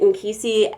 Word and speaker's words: nkisi: key sea dolls and I pronounced it in key C and K is is